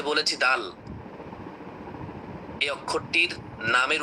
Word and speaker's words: দাল: Just মুখটা একটু খুলে মুখটা একটু খুলে আপনি সুন্দর করে দ আকার আল ল উচ্চারণ করবেন তবে টান দিবেন দা দাল অর্থাৎ শেষে গিয়ে লর সাথে সংযুক্ত করে দিবেন অনেকে আবার না বুঝে বলে দাল দাল এমনটা করবেন না বলবেন আচ্ছা এই দাল অক্ষরটির মাখরাজ কি?